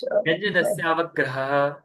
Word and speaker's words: व्यंजनस्यावग्रह: कि व्यंजनस्याव ग्रहग्रह ग्रह पुनः प्रयास कीजिए व्यंजनस्यावग्रह ग्रह ग्रह बोलना पड़ेगा ठीक है आपने तीन बार बोल दिया कोई नहीं आप बार बार प्रयास करेंगे तो और शुद्ध इसको ठीक है व्यंजनसवग्रह इसका उच्चारण करना चाहिए इस सूत्र का अर्थ